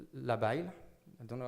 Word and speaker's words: labile: So it's labile.